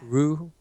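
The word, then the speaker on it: Ryuu: it's supposed to, like, in Japanese it's supposed to be like Ru.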